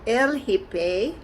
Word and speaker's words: El Hippie: trip to el hippie el hippi is spelled h-i-p-p-i like a hippie but it's called el hippei it's in the national